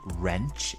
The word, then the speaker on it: wrench: one tool called a wrench in American English or spanner in British English and with wrench we have a silent W so bear that in